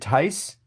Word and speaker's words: Thais: Is it Tice? Very It is close. Tice. Thais. Thais, okay.